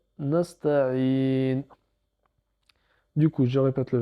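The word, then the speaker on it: نستعين: Et le nun, on ne prononce pas la voyelle finale, bien sûr. Donc ça nous donne nasta'in.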